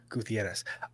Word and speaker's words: Gutierrez: This is the only attorney who pronounces her name that way. And I get proper pronunciation, Gutierrez.